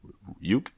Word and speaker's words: Ryuk: Is it pronounced Ryuk? Ryuk, yeah.